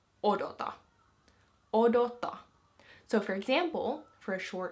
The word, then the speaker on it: odota: And to put it into the command form, you would say odota.